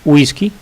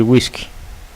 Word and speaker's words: whisky: La palabra whisky, esa W se puede pronunciar como G o como U, es decir, es correcto decir whisky o decir whisky.